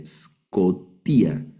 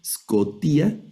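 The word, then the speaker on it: σκοτία: no hay vocal, entonces solo suena la s escotía. Y la el acento el acento está sobre esta yota y esa es una letra yota en la última sílaba, scotía.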